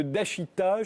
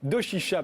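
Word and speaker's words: 同志社: Tariq Ramadan, vous êtes islamologue, professeur d'études islamiques contemporaines à l'université d'Oxford, attaché à l'université de Dashita, je l'ai bien prononcé ? Doshisha, pardon, à Kyoto, au Japon.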